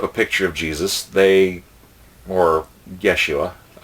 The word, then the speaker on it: Yeshua: picture of Jesus, or Yeshua, technically the J sound or letter didn't come up until centuries later, so Yeshua is actually closer to Joshua for an actual name, but I digress.